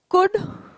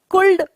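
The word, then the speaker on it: could: अभी तक हमने देखा कि देखिए, कुड, वुड, शुड, ये तीनों मॉडल्स हैं, ठीक है. कुल्ड वुल्ड और शुल्ड नहीं बोलते हैं, इसे ध्यान रखें ये, ठीक है। इसका प्रोनाउंसिएशन जो है एल साइलेंट है, इन तीनों शब्दों में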